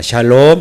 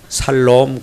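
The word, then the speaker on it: שלום: 하나님께 불렀답니다 평가 이 뭘까 여러분 여러분에게 인사합니다 샬롬 이사 하겠습니다 샤일로 또 발음 이상한 분이 계세요 살롬 그런 분이 계시네요 샬롬 다시 없다 샤일로 예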